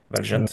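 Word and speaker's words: Valjent: Le le Real Madrid a été euh cueilli à froid, un but dès la 11e minute de Valgent, comment on prononce ? Valgent.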